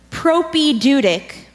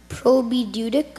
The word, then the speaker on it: propaedeutic: G are the salary propaedeutic prob'ly Dudek no propaedeutic propaedeutic propaedeutic propaedeutic are